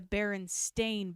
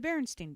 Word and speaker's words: Berenstain: It's the Berenstain Bears. S-T-A-I-N. Like a stain on clothing. Not Stein, not a... The Berenstain Bears.